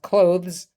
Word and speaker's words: clothes: clothes techn is pronounced clothes but clothes you can say clothes and it rhymes with pose so body part on